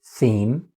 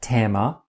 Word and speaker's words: theme: As you can hear, the word is theme. It's not tema. If you say tema, you're probably Japanese and you might think